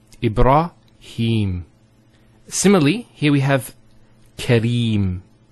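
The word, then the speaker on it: إبراهيم: Here the ha has a kasra followed by the ya. So here there's an elongation of the E sound. It's he. Him. Ibrahim.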